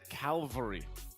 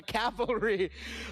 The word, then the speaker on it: cavalry: was surprised because I've always said Calvary instead of calvalry oh so you mixed up the L I mixed it up but that's the first thing that comes to mind pronouncing it correctly all right so you were a proud member of the calvary now now you're a proud member of the Cavalry Let's uh hear from